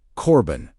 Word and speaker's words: Corban: The word Corban, pronounced Corban, meaning a gift or offering formally dedicated to God.